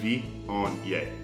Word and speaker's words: Viognier: Viognier is pronounced Viognier.